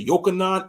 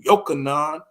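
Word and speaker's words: יוחנן: You know, or he might change it to Yochanan Israel, because that's how you say, allegedly, that's how you pronounce John in Hebrew, Yochanan, you know, or Jonathan, John, you know.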